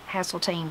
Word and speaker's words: Hasseltine: There's the Hasseltine that I liked that I thought I might have named Corey and Katie if I'd known that. H-A-S-E-L-T-I-N-E, Hasseltine Bradley.